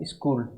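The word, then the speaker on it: school: इसका प्रोनाउंसिएशन या उच्चारण क्या निकलता है, स्कूल। यहाँ पर CH कै का साउंड दे रहा है।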